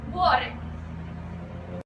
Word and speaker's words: Vuori: As you know, there's been a lot of debate on how to pronounce Vuori, so here's Rita from Finland to tell us how. Vuori.